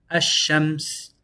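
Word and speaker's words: الشمس: And we have ash-shams. Ash-shams. Where we don't pronounce the lam here. We say double sheen.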